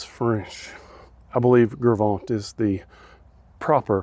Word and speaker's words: Gros Ventre: at here and where we're at now is gros ventre no i'm just kidding i was trying to say that all redneck it's gravant it's french i believe gravant is the proper pronunciation but it's the gravant